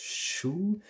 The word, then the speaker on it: shu: aksuy you have a second word which is pronounced shoe and shoe is a card and a card led by hand so the idea of something moving streaming and shu is the word which is in fact used